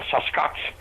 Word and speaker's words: Sasquatch: And they started talking about this thing in the hills called the Sasquatch. The best way to pronounce it is take the word bucket, drop the B, and add SAS to the beginning.